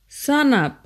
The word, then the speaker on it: sanap: For example, brother is pronounced brata, enough, enap, before, bipo, shark, sak, stand or stand up, sanap.